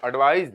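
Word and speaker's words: advise: देना ध्यान ना देना यहां ध्यान दीजिएगा एडवाइस की एक स्पेलिंग होती है सीई और दूसरी स्पेलिंग होती है एस जब एडवाइस की स्पेलिंग ई से एंड होती है तो उस वक्त य जो एडवाइस है य नाउन होता है और एडवाइज इसे ज पढ़ेंगे उसे स पढ़ेंगे एडवाइज जब होता है एस तब ये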